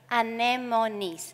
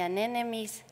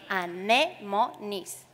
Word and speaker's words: anemones: Well, it's sea anemones, no sea anemones, no. Sea anemones, easy.